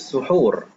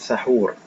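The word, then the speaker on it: سحور: Baik, ta'khirus suhur, mengakhirkan makan sahur. Suhur, bacanya suhur, bukan sahur.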